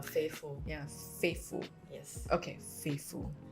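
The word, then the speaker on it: Favful: called fful faithful how do you spell it pronounce it f a v f u l faithful yeah faithful yes okay faithful so I realized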